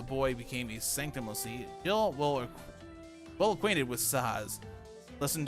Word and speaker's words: Jihl: But spelling Jill like that is just dumb. It's still pronounced the same way, and it just confuses people.